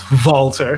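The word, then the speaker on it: WALTER: Pete Dunn versus Valter because we have to say it properly.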